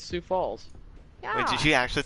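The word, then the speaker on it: Sioux Falls: six Health though man six FS I know God damn you it's not even how it's pronounced what is it then SS it's Sue Falls yeah wait did you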